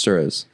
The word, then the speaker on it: Suerez: to tell everyone that your name is actually pronounced Suarez.